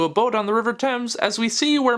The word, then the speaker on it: Thames: stupid this all sounds you can't just say x because it rhymes with pains it's the River Thames please we then cut